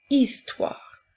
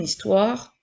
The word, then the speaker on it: histoire: pour faire une ensuite dans le mot histoire le son i s'écrit avec deux lettres la lettre H est une lettre muette donc nous avons le